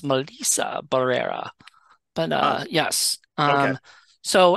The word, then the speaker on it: Melissa Barrera: interview that she did and the person actually pronounced her name right it's Melissa Barrera but uh yes um so if I ever